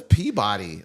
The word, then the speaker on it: Peabody: I mean, there's only one way to pronounce this, but it's wrong. Not in Massachusetts. That's No, it says Peabody. Like there's a Peabody Award.